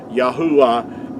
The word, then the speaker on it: Yahuah: Making vowel sounds, Yahuah is the way that our Creator's name is pronounced.